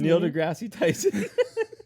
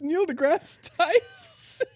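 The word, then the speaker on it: Neil deGrasse Tyson: you just say his nail degrassi tyson it's not his name it's neil degrasse neil degrassi tyson there's no e mr grassy yeah but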